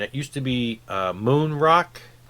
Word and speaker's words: Moen Rock: used to be uh moon rock which is a denmark pronunciation of the letters but anyway and then